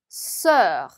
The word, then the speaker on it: sœur: 얘의 발음은요. 입은 O, 안쪽의 소리는 에처럼 내신 다음에 S 발음 스를 붙여주시면 됩니다. 한번 해볼까요? O, E, sœur.